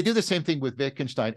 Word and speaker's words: Wittgenstein: But I've been hearing people now do this other thing, because they do the same thing with Wittgenstein. Every generation switches between the V and the W pronunciation.